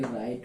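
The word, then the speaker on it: write: W silent में क्या है कि आपका देखे होंगे राइट वगैरह बहुत सारे जगह रॉन्ग देखे होंगे, इन सबको देखिएगा।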